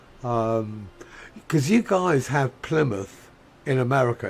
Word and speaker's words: Plymouth: Villages which we would we don't pronounce it mouth even though that's what it comes from it's you know it's